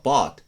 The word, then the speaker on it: bought: つありますあと例えば bought と BOAT これなんかは発音記号がこうなってるのに逆にこっちは綴りが応だからローマ読みしちゃってボートて言っちゃって逆にこっちは日本語でボートっていう単語があるからあんまり二重ボイにしないでボートみたいにこう逆っぽく言っちゃうっていうこともよく